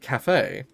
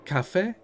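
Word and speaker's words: café: Yeah, cafe. You pronounce it cafe. You don't pronounce it caf.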